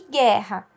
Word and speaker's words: guerra: O G e o U pode não ter o U pronunciado quando ele é acompanhado de I e de E. Por exemplo, né? Guitarra e guerra.